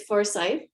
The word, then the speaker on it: Forsyth: you is it forsyth or forsyth uh it's forsythe um no e so it's um yeah people often ask how to pronounce it forsythe and i should have done